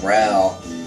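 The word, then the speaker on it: Rauch: strong German Catholic Community we got last name Rao in our uh in our town um it's r-a-u-c-h so that's how we pronounce it here I don't know if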